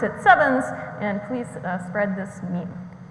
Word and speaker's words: CEvNS: and so I'm gonna use sevens where you pronounce it sevens and please spread this meat this process was